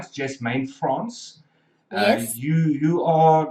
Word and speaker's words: Jasmane Frans: It's, if I've got the pronunciation right, Jasmane Frans.